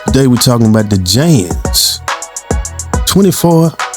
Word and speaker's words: Janz: Today we're talking about the Jans 24 foot telescoping wand. Yeah, that's 24 ft or foot telescoping wand by J A N Z. That's how I pronounce it.